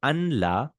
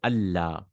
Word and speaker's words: Allah: So anla, you say Allah. The noon is changed into a lam, and the two lams are joined.